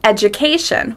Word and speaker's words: education: Another example, education. We stress the A, education. Sometimes people stress a different syllable, like education, and it doesn't sound natural.